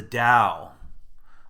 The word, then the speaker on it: Dao: You can see it's spelled a T or a D, and again, I'll probably encourage you to lean more toward the D, as my scholars in Chinese religion say that's more accurate.